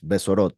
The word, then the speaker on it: besorot: You see the tidings, the good tidings, besorot, just to make sure that the pronunciation is. So besorot, the good news.